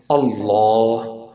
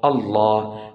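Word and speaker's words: الله: as heavy heavy sound Allah Allah not no if the letter before Allah carry then it would be pronunciated as light if it carries letter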